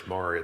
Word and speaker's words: Maury: h of mission Discovery I think I introduced you as Murray it's maray though Murray yeah well the whole